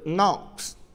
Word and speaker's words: knocks: Không nhá, âm ca này là âm ca câm. Câm tức là gì? Nó không đọc.